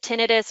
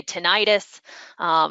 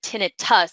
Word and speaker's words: tinnitus: people with tinnitus or some people say tinnitus in the professional world we say tinted tusks because if you see that the way that that's spelled it's not itis and itis implies inflammation so it's tinnitus or ringing in the